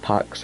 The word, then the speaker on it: PAX: The game got improved to be showcased at MAX Plus this year. Sick! Or, it's pronounced PAX, right? So it'd be Max.